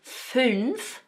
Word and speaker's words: fünf: Then we have one of those special characters 'fünf' with the umlauted ü.